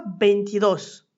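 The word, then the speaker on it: veintidós: Ensuite, on aura beidos. Tu entends l'accent tonique sur le haut ? C'est l'opportunité pour moi de t'expliquer que quand le mot est terminé par un s, la voyelle prend un accent.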